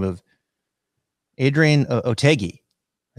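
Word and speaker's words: Otaegui: It was the Andalusian Masters, a guy by the name of Adrian Otegi.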